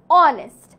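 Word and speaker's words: honest: পূর্বে এ বসবে যেমন অনেস্ট অনেস্ট এর আগে এইচ আছে বাট বুঝা যায় না আমরা উচ্চারণ করি না লাইক অনেস্ট এইচ ও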